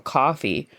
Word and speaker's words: Ko-fi: And we wouldn't ever turn down the offer of a coffee or maybe even a glass of wine.